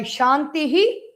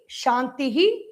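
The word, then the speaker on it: शान्तिः: We have to take care to pronounce that Visarga by Shantihi, Shantihi, Shantihi.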